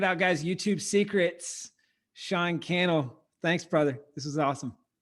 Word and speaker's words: Cannell: YouTube Secrets do that my name is sha canel rhymes with YouTube channel and I would love